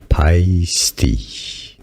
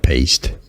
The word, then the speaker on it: Paiste: what I mean here pisty is how it's pronounced not pasty wow py pisty not paste pisty not paste not paste this is our guy